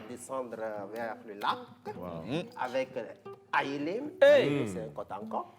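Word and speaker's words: Ayélé: Aïlé s'écrit A, Y, E, L, et E.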